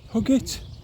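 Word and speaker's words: Huggate: think the next one next one would be hug it that's how it's pronounced HG a t which is not too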